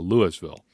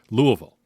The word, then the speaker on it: Louisville: Yasir Abdullah out of Louisville Louisville Louisville come on Amateur hour don't pronounce the S Louisville anyway six foot